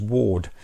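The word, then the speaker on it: Wardh: strange vice of mrs ward i've always wondered about how you pronounce this but basically you don't say the h i don't know why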